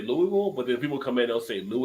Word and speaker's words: Louisville: you can film now it was Louisville Louisville remind me of the shirt that he had it says like 10 different pronunciations yeah it's only supposed to be two syllables I honestly like she